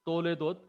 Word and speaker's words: Toledot: The proper pronunciation is Toledot. Toledot is having two vowels, two full vowels. Therefore, it will have two syllable, two syllable.